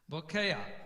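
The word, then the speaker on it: בוקע: And one of the exceptions is when you have an ayin at the end of the word and it has an a vowel under it, then the stress generally comes on the syllable before it. Not always maybe, but in this case it certainly does.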